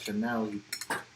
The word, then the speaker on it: Chanel: He couldn't believe that the channel bag cost that much. You couldn't read the name right. Instead of Chanel, you pronounced it Channel.